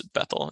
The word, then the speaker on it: Bethel: Sorry, I have a tendency to accidentally call it Bethel. It's Bethel is the better way to pronounce that.